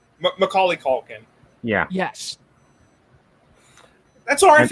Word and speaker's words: Macaulay Culkin: for home alone movies worth watching one uh michael k culkin macaulay culkin yeah yes that's alright if you mispronounced it yeah it's fine yeah i've heard